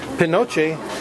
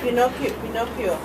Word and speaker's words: Pinocchio: Pinoche. Pinocchio.